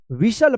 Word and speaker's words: whistle: अब देखिए यहाँ पे WHISTLE। क्या पढ़ेंगे? क्या पढ़ेंगे इसको? विशल पढ़ेंगे, विशल। विशल मतलब होता है सीटी, जो सीटी बजाते हैं ना विशल से, वो इसको हम बोलते हैं विशल।